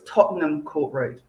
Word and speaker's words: Tottenham Court Road: popular with our visitors lots of people trying to pronounce it in full tottenham court road but you just push it all together so it's tottenham court road finally we move outside